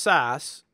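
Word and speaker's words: SCSS: is this CSC SS which is pronounced SAS even though it's not spelled SAS but basically this is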